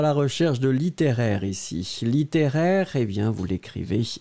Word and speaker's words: littéraire: nous étions à la recherche de littéraires ici littéraire et bien vous l'écrivez l it et et